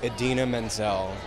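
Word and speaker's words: Idina Menzel: Adina singing and so I'm really excited to pronounce her name correctly knock on wood but yeah I'm really excited to say Edina Menzel into the camera I'm obsessed with you jackrin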